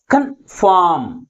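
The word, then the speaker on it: confirm: you city ముందు ఉంచాలి అర్థమవుతుందా next second one కన్ఫామ్ కన్ఫామ్ దీంట్లో ఏ సిలబుల్ ఏ సిలబల్ కంటే ఎక్కువ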